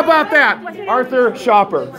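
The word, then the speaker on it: Schaper: it starts right here how about that Arthur Shopper spell it a r t h u r last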